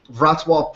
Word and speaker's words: Wrocław: This is based in, it looks like Wrocław, but it's actually pronounced Wrocław, Poland.